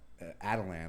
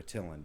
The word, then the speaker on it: Attilan: You do recall that Atalan or Attilan, depending on how you pronounce it, the Inhumans' home was at one time in the Himalayas.